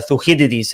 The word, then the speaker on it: Thucydides: it goes back to thucydides or uh thuheri's as they pronounce it in greek and he said it